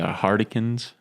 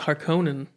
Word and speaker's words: Harkonnens: say one last thing the hardikins if that's how you it's actually pronounced harkonnens that's frank herbert even said that oh i pronounce sardikar